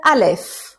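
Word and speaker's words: א: is the first letter it's Alf okay it's called Al like in Arabic Al it's a written like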